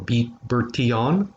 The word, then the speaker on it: Bertillon: Alphonse Bertillon, or Bertillon, if it's pronouncing it in the French, he developed and looked at what we call criminal detection.